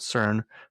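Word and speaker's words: SYRN: launching a brand called CERN, pronounced like Siren.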